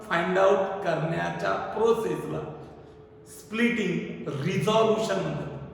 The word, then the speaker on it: resolution: मग एखादा वेक्टर दिला असेल तर त्या वेक्टरचे कंपोनंट फाइंड आउट करण्याच्या प्रोसेसला स्प्लिटिंग, रिझॉल्युशन म्हणतात. काय म्हणतात त्याला? रिझॉल्युशन. रिसोल्युशन नाही म्हणायचं, स्पेलिंग तशीच आहे.